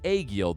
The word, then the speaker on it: Aegil: We are playing as Aegil, the Berserker. And before you guys correct me on the pronunciation, I Googled that, all right? That is how you say it.